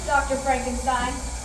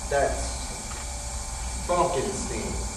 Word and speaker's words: Frankenstein: I have one question, Dr. Frankenstein. That's Frankenstein. I beg your pardon? My name, it's pronounced Frankenstein.